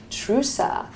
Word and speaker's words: Trusa: And I also have Maria Trusa of the Forme Medical Center.